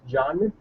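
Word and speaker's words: जानना: It's a one word, okay, but I'm putting a dash here because like so that way you can pronounce it properly. So it's janna, to know.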